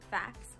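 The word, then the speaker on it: FACS: action coding system or F ACS pronounced fast like fax machine is a breakdown of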